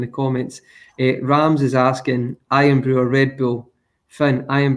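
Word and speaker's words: Irn-Bru: few months ago, and people call it Iron Brew, but it's not. It's Earned Brew, isn't it? I think that's how it's pronounced, or something like that.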